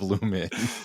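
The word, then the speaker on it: Lumon: I'm game lumen. That sounds good. Let's do it. You guys agree? Yeah. Yep. The company is Lu M O N, but it's pronounced Lu Men, which is Lightseed Disc Golf.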